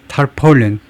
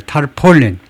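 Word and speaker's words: tarpaulin: 그다음에 터폴린 발음 끼워서 놨어요. 터폴린이 타폴린 아니고 타폴린 방수전, 방수포, 타폴린이라고 하지만 그것이 떨어졌다는 겁니다.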